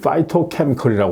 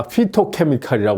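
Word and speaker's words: phytochemical: 한번 다시 한번 이제 말씀을 드리겠는데요 이제 파이와이 파이토케미컬이 하는 겁니다이 파이토 아마 저 우리 신문에는 아마 피토케미컬이 이렇게 피토케미컬이 이렇게 아마 소개되고 있을 거예요 근데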